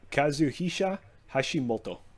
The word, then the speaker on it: Kazuhisa Hashimoto: a couple of months that is kazuhisha hashimoto that's about what he said well mine had more emphasis on the second o in moto understandable yeah that's what